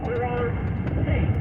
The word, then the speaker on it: Jorge: Jorge, your name is spelled W-H-O-R-E-K-H-E. Jorge.